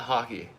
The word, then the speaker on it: Hoke: It's pronounced like the sports the sport hockey. Okay. Hoke.